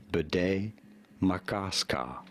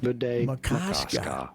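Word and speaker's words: Bde Maka Ska: How do you go about pronouncing this strange-looking, for some, name? Yep. Bidet Makaska. I was right. Bidet Makaska.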